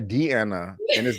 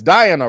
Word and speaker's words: Diana: getting on me because i mispronounced uh diane i i call her deanna it's diana right yeah sometimes when you say